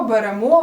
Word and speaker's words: беремо: присудок підемо до речі зверни увагу що всіх дієсловах які закінчуються на емо наголос на останній склад наприклад Ідемо беремо веземо несемо Я знаю що звучить